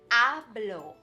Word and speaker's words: hablo: now we would say hablo hablo hablo or joe hablo good did you remember that that h is shh silent we write it but we don't say it right yeah it's one